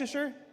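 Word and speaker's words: Leicester: How do you say? Is that Leasher? Lester.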